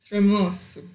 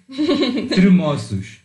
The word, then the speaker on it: tremoço: Do you know how to pronounce these in Portuguese? Tremoço. Tremoços.